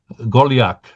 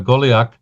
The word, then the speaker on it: Golyak: Uh Igor Golak. Um interestingly enough, his name is pronounced very much like mine.